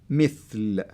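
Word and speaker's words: مثل: That's the kasra, and the kasra will help you to say it mithl. So if it wasn't there, you can say bimethal. Yeah. So so they avoid, you pronouncing it the wrong way.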